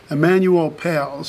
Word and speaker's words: Emanuel Pailes: Emanuel Pailes. And you spell that? E-M-A-N-U-E-L-P-A-I-L-E-S.